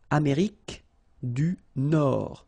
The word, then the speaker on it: Nord: Amérique du Nord. Final D not pronounced.